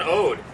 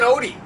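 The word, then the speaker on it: Odee: Carson Ode. It's Carson Odie. I should have wrote it down O-D-E-E.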